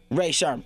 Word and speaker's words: Rae Sremmurd: Rae Sremmurd.